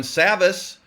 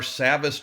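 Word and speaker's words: Savvas: up to speed on Savas. And thank you for teaching me how to say it. Yes. You did. Think savvy. Yes, I got it now. Now get savvy.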